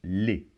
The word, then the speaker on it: les: introduit des mots et il se prononce les. Donc ici, le E et le S se combinent pour former le son E. Et on ne prononce pas la lettre S finale.